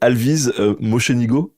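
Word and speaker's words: Alvise Mocenigo: toujours des remarques parce que je massacre les prononciations et là vraiment donc c'est Alvise Mochenigo. Alvis Mosenigo, c'est presque ça.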